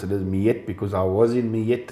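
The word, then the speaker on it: Mljet: Well, the people call it ML Jet, Marker Leafs Jet, but that's not its name. The horse's name is actually Mijet, named after a town in Croatia.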